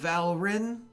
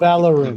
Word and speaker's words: Valorin: of the chosen of Valrin." Valrin is the nation, right? The names are too similar. Valorin. Valor. Just think Valor is the nation. Valorin. Multi-syllable is the nation, single syllable is the person.